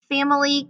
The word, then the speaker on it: family: the word family family family can be a little tricky as well sometimes it sounds like there's no i in the word family i have to slow